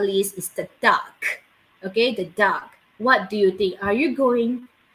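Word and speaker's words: DUKW: that i'm going to share with you is duck d-u-k-w okay d-u-k-w this is pronounced as dark okay you can find this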